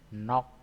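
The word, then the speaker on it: 넋: Contoh lagi, ini G dan S. G dan S yang digunakan adalah G-nya atau K-nya. K atau G boleh ya. Nah, ini bacanya jadinya nok.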